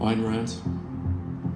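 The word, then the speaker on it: Ayn Rand: not just over how to pronounce her name an Rand or an Rand or however the moderns pronounce it an Rand not an ran a ran iron RS I'm told it's iron ran iron Rand one man can stop the Moor of the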